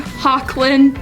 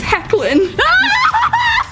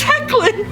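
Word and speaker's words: Hoechlin: last name we do not know how to pronounce um and we have tried hoachlin hawklin coachella we've tried so many different things i found out how you say it it's hecklin tyler eckland no it is not i looked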